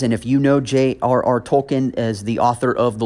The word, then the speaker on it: Tolkien: Some people pronounce his name Tolkien. That may be the more appropriate way to pronounce it. I'm going to go with Tolkien just for the simplicity of the matter for this episode anyway.